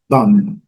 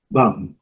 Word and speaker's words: bomb: E a letra B, não pronunciada. Vamos riscar aqui para não ser pronunciada. Então, bomba em inglês é bum, bum, fechando a boca.